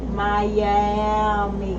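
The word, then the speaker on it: Myammee: like it sounds like Miami yes so you spell it with Maya m y a two M's m m e e Miami Miami uh the name of the song is God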